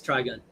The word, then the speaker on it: Trigon: I'm saying t r i g o n. Try again. No, you're getting closer on try. Take me away. Closer. Yeah, think of it like that. Just try instead of cow. G. Yeah. No, it don't sound right. It's try gun.